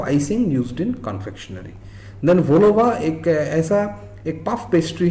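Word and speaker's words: vol-au-vent: तो बेकरी एक पेस्ट्री वाला आइटम हो गया, तो ये इसको वोलोवा बोलते हैं, puff pastry case filled with Sewri fillings.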